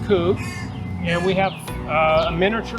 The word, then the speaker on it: Kubb: demonstration of pub uh actually kube i've been corrected how it's pronounced coup and we have a